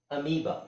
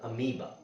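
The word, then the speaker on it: amoeba: ಅಲ್ಲಿ ಅಂತ ಹೇಳಬೇಕು ಡಸ್ ಅಮೀಬಾ ಇಲ್ಲಿ ಓ ಮತ್ತೆ ಇದೆ ಓ ಸೈಲೆಂಟ್ ಆಗುತ್ತೆ ಈ ಲಾಂಗ್ ಆಗುತ್ತೆ ಅಮೀಬಾ ಅದೇ ತರ ಬಯೋ ಇಲ್ಲಿ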